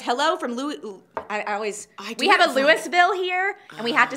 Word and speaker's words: Louisville: Sherry says hello from we have a Louisville here, and we have to say Louisville. And so when I look at Louisville, Kentucky, it's hard for me to remember that it's Louisville, not Can I be Louisville.